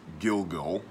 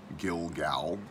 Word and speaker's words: Gilgal: of the Jordan at gilgul Gilgal however you want to pronounce it and that the river